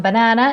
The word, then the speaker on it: banan: This one, banana, in Swedish is called banan. Very important. So the stress is in the back. Banan, in the last syllable.